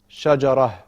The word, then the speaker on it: شجرة: It says the same, but because the شجرة ends on a round ta, when you stop at the end of the sentence, you make it a ha sound. Shajarah.